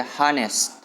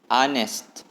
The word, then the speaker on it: honest: seagames2018 yang mungkin honest mungkin Kalian membaca hanes hanes tapi cara pelafalannya huruf H yang tidak disebutkan jadi aneh Anes Anes artinya jujur ya pengertiannya